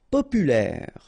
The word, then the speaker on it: populaire: Populaire, populaire. Don't insist on the final E, populaire.